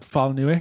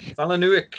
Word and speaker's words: Palahniuk: Is it Chuck Palahniuk? Chuck Palahniuk, yeah. Palahniuk.